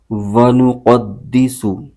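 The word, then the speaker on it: وَنُقَدِّسُ: ونقد، دال زیر دی، ونقدی، سین پیش سو، ونقدسو، لام زبر لا، کاف زبر کا، لک، آگے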